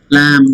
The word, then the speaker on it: lamb: Okay, lamb. B is silent.